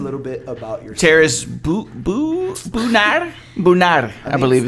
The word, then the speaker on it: Bonner: Nah, Is it the R roll? Do you roll the R? Bonner. Nah. I wish I was French, but no, it's just Bonner.